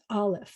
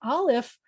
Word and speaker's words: Aleph: Try saying Aleph, and you'll see that before you get to the ah, there is a sound, Aleph. There's a closing and opening, and it's a very quiet thing, but your voice is, your mouth is doing a something.